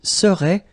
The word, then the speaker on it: serait: So final T is not pronounced. So phonetically, you've got the same form as we had previously. Il serait, elle serait.